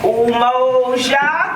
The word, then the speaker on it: Umoja: It's called Umoja. Can you repeat after me? Umoja. Umoja. Anybody spell it?